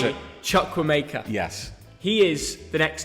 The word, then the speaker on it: Chukwuemeka: I think I do, but you pronounce it. Chukwuemeka.